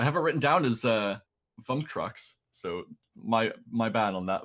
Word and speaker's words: Vuptrox: Unfortunately for Vuptrox, I've been pronouncing it incorrectly. I was putting in an added M for no apparent reason. I have it written down as Vuptrox, so my bad on that. Vuptrox, unfortunately, do not win